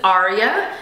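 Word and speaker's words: Aaria: Her name is Aria. It's spelled A-A-R-I-A.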